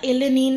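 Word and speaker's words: El Niño: এখানে যেমন কালবৈশাখী হয় ওটাকে বলে এল নিন ওটা এলে নিন না কেমন উচ্চারণটা ঠিক করে নিতে হবে ঠিক আছে ওলা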